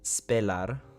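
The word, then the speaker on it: spelar: But anyways, the Swedish word spellar is pronounced spellar. The e the e sounds like e in bed. Spellar spellar.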